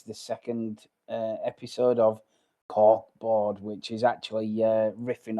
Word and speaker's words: Cork Bord: Corkborg or cork b cork board as in a board made of cork.